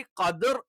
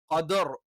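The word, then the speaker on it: قدر: അപ്പോൊ ഒറിജിനലി കദർ എന്ന് പറഞ്ഞ് നമ്മൾ സ്റ്റോപ്പ് ചെയ്യുകയാണെങ്കിൽ ഇവിടെ എന്ത് ചെയ്യും നാവിന്റെ മധ്യഭാഗം ഉയർന്നിട്ട് കദർ തഫ്ഹീം എന്ന് പറയും. റാഇന്റെ തഫ്ഹീം എന്നുള്ള ഉച്ചാരണമാണ്. അതേസമയത്ത് കദി എന്ന് നമ്മൾ അടുത്ത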